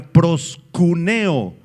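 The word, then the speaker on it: προσκυνέω: La palabra adoración es la palabra griega proskuneo, con K y acento en la E.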